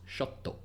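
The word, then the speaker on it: ショット: in Japanese is pronounced shot dog see that TT that indicates what's known as a glottal stop and it's something we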